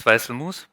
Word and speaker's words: Weißl: Um yeah, my name is Vice pronounced correctly and I lead a